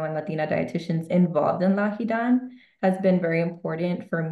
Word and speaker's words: LAHIDAN: How do you say it again? So I can get this right on record. LAHIDAN? LAHIDAN.